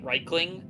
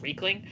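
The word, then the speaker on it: Riekling: Remember, like, for instance, I always say Reichling, because that's how they're pronounced in Dawnguard. I mean, sorry, in Dragonborn mainly is Reichling, but they're also pronounced Reikling.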